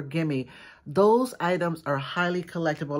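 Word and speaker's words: Gemmy: And so if you guys know anything about vintage Halloween animated items such as Gimme or G-E-M-M-Y Industries, I think it's pronounced either Jimmy or Gimme.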